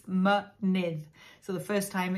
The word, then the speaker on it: mynydd: And in a word like mynydd, which means mountain, mynydd is mountain, it's pronounced both ways. So it's mynydd.